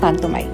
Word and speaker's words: পান্থমাই: বড় হিল ঝর্ণা বলে পান্থমাই গ্রামকেও যদি অনেকে পান্থমাই বলে ডাকে কিন্তু সঠিক উচ্চারণ পান্থমাই একা চিঠি একা একা